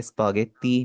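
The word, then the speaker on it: スパゲッティ: Spaghetti को आप बोलेंगे स्पगेती। बीच वाला उ इसका साइलेंट हो जाएगा।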